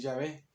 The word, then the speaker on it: Yahvé: nuevo de que del nombre de de la pronunciación de nombre de Dios que es Yahvé.